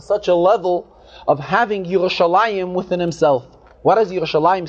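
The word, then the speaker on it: ירושלים: And the Rebbe says, interesting, if we notice carefully how we pronounce the word, we pronounce Yerushalayim. The Lamet has a patach. The Yud has a chirik.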